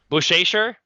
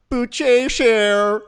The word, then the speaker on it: Buchecha: No, you say it like that. I heard what you said it the first time in my ear, like it was a Flow Rida song. Buchecha. Ooh. Oh, like a flow rider.